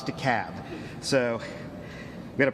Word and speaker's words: DeKalb: DeKalb County, 802. And I want to take a note of personal privilege for a second for the Yankees in the room. It's DeKalb, not DeKalb, not DeKalb, it's DeKalb.